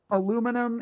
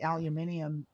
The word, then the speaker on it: aluminium: Like where it's like that aluminum is an American bastardized version of it and I don't think it sounds as good. I think aluminium like makes more sense like but it it's more syllables so people don't say it.